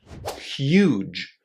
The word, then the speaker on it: huge: Huge.